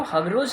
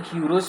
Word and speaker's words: Heroes: Okay, so now heroes, इसको हगरोज नहीं पढ़ेंगे, इसको हीरोज पढ़ेंगे. ठीक है, ये देखने में कुछ लगता है, प्रोनाउंसिएशन को पढ़ते हैं हीरोज.